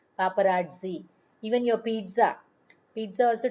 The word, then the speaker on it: paparazzi: Sometimes these they are called as paparazzi. When there is two Z, students, t sound has to be pronounced, not G, it is Z. Paparazzi.